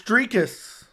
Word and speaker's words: Dricus: Can someone pronounce his name right? It's Dricus.